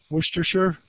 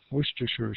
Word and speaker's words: Worcestershire: Worcester, Worcestershire? That's how my mom told me to say it anyways. Worcestershire sauce.